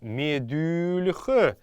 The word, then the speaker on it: медюльх: Как мы помним, так как это мягкорядное слово, буква «Л» будет произноситься мягко. И все остальные слова, которые вы читаете мягкорядные, везде вы должны произносить букву «Л» всегда мягко.